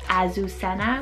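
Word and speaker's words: Azucena: here is the name azusena a susena so a-z-u-c-e-n-a it could be in english pronounced azusena with that stronger zed and this one is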